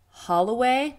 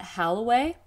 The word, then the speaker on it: Holloway: mispronouncing their last name it is holloway not halloway which is a big